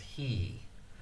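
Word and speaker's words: 日: Nichi, ni, can also be pronounced he.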